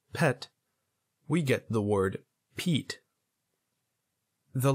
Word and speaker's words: Pete: we get the word Pete the letters would be pronounced p e t e is the long vowel sound of the letter e again we don't pronounce the last e all the e does